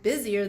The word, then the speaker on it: busier: Now, boys and girls, this one has an S in it, busier, B-U-S-I-E-R, but we still pronounce it with a Z sound. Isn't that funny?